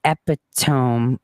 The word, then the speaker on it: epitome: important is why do you pronounce epitome like like EpiPen not ome um so epitome means